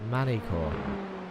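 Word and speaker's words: Magny-Cours: a second uh uh Andre says the G in magni core is silent manicor that doesn't feel right even if it's true that does not feel right so I'm gonna stick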